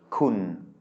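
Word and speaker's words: คุณ: And you'll see that this uses two low class consonants that we haven't seen yet, but it is pronounced with a mid-tone, kun.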